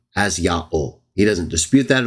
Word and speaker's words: Yahweh: he's arguing against, they knew that the Jews pronounced the divine name as Yahweh.